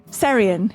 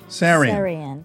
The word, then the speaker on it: Seirian: Am I saying it correctly when I say Seirian? Seirian. Seirian.